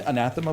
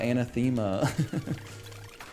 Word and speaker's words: anathema: I went, "Oh, it's not anthemma."